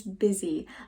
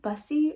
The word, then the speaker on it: busy: I remember looking at the word, seeing B-U-S-Y, and always saying, I think bussy, or I never knew how to say the word busy.